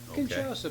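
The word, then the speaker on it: Kinshasa: So, well, it's K I N S H A S A Kasa Kasa Band.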